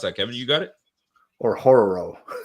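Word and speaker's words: Orhorhoro: Ruke Ohoro. What is it? How do you pronounce that, Kevin? You got it? Or Horror. You gotta roll the R though.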